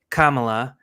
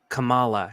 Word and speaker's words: Kamala: No, I think they said it's it's pronounced Kamala, but if you pronounce it Camala, you're racist.